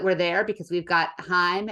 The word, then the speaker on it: Haim: there because we've got Heim and uh Gracie Abrams opening not Travis Prime um Haim I guess is probably the proper way to say that um that'd be pretty